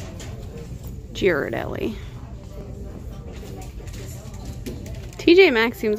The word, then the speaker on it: Ghirardelli: how you say it i always say jira girodelli but i hear people say ghirardelli and i've heard other pronunciations as well but i think i'm right giroud ellie tj max seems like